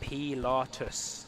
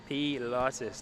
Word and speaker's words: Pilatus: Zapud, let me know it is pronounced Pilatus. Thank you. Pilatus.